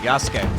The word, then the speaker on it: Yasuke: Also, the game trailer yesterday confirmed I was pronouncing it right, Yasuke.